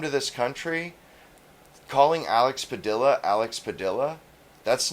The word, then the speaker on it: Padilla: And in our dialect, we pronounce our L's, especially double L's. We say Padilla.